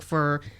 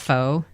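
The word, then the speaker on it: phở: uh f F yeah fo is the best what was what is well I think Americans call it Fox but it's F it's just the noodle soup oh okay yeah I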